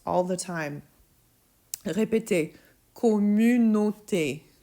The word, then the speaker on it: communauté: I hear this mispronounced all the time. Répétez. Communauté. Communauté.